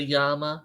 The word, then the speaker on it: llama: Is like, it's double L, but Yes. but if you say it with a Spanish pronunciation, the double L's are a Y. So yeah, it is a llama.